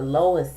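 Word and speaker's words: LOIS: system out there and it's pronounced the lowest system l o i s system and uh I've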